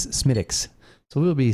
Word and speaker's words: Smithwick's: I have been saying Smithwick's all day. Right. Well, because that's how it looks to us who pronounce the TH like that. But in reality, I believe the pronunciation is Smithwick's.